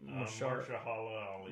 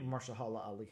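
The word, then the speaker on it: Mahershala Ali: uh how do you say that actor's name marala Ali Marsha Hala Ali yeah um introduce him in in a midnight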